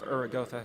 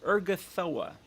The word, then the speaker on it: Urgathoa: What do you know of Uragotha herself? I don't know how to pronounce her fucking name. Urgathoa.